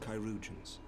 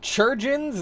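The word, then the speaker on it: chirurgeon: by our most skilled kyans that's how you pronounce that it's not churgin it's kyans what the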